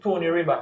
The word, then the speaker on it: Stony River: They said Tony River. Tony River. Tony River. Yeah, Tony River. You hear that? That's how they had pronounced That's the patois style, you know.